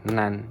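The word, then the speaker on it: 何: Kata yang menunjukkan sebuah bilangan. Misalkan nansai sayai di sini kan umur. Umur kan sebuah bilangan kan umur. Umur kan sebuah kata bilangan. Jadi bacanya nan. Contoh lain misalkan 6 bank. Bank itu kan ee angka nomor nomor berapa itu pakainya bacanya nan. Selain selain syarat ini kedua kedua syarat ini selain itu dibacanya nani.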